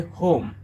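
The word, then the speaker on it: whom: আর এখানে W silent, এটা হবে হোম।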